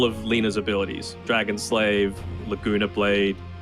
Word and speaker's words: Laguna Blade: Lena's abilities Dragon slave Laguna blade it's pronounced like ragna blade in uh in the anime so you know ice